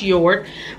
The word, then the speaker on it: Jord: a J on it even though it's your it's even though it starts with a J it is pronounced your but you can get